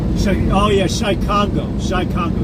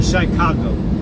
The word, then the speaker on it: Chicago: I want to try it because that white dude, Shy Congo, yeah. Chirac, Shy Congo, yeah. I don't put the UE. I just spell it out CHIRAQ.